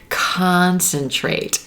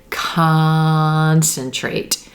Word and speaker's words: concentrate: is the stressed syllable it's going to be pronounced like the ah as in olive sock sound do you hear it concentrate concentrate try that olive sound